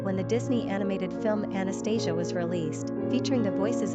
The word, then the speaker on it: Anastasia: Pronunciation, Anastasia, Anastayzh.